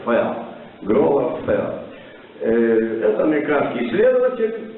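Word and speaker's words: Furr: Есть такой исследователь Гровер Фурр, по-русски пишем Гровер Фурр, а по-английски пишется соответствующие латинские буквы, читается Ферр.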